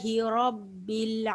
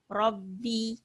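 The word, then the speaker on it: رَبِّ: ரப்பி, இந்த இடத்துல பெரும்பாலானவங்க இந்த ராவுல செய்யக்கூடிய பிழை என்னன்னாக்கா ர ரப்பி இப்படி இதை வந்து கீழே இறக்கியே உச்சரிப்பாங்க. தமிழ் ராவுக்கும் அரபிக்குடைய ராவுக்கும் நமக்கு வித்தியாசம் தெரியும், அப்படித்தானே? அப்ப இதை ஹெவியா ரா இப்படி சொல்லணும்.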